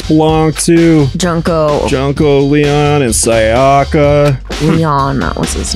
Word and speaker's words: Sayaka: Someone used Junko's or Sayaka. Is that how you say her name? Sayaka, yeah.